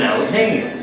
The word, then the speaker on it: Alexanian: Andy Swift from Canada ladies and gentlemen alexania did I say that right yeah right I